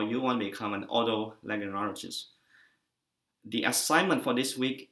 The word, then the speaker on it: Otolaryngologist: sĩ nào cũng gặp vấn đề khi mà đọc là từ bác sĩ chuyên khoa tai mũi họng hay còn gọi là Otolaryngologist. Bạn đọc chậm và đọc theo tôi, Otolaryngologist.